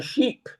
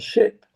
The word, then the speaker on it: ship: until I realized that I was using the wrong pronunciation for that word. And instead of saying ship, I said sheep, and they found it quite amusing.